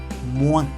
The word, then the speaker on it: moins: O más I más N se pronuncia ouin. Ouin. Nasal. Ouin. Es como una O seguido de un. Ouin. Por ejemplo, moins, que significa menos.